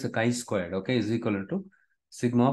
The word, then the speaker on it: chi square: um this is how it looks like your Chi Square distribution okay it is pronounced as Chi Square Chi Square it is written as something like